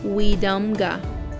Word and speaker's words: Wetumpka: Near current-day Fort Toulouse is the town of Wetumpka, Weedumga, which in the Muskogee language means rumbling waters.